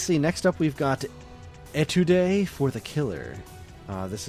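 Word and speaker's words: Étude: that's that title but boy that was it's pronounced Etude Etude oh all right and it's means it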